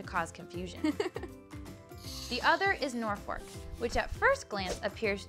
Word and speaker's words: Norfolk: The Norfolk citizens couldn't overrule the postal authorities, but they did refuse to change the pronunciation, and to this day, it is known as Norfolk.